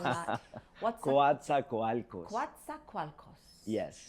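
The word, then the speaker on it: Coatzacoalcos: was born in a very small town called quat qualos in Mexico you tried pronouncing that what's qua qualos quat qualos yes not bad that's and um and I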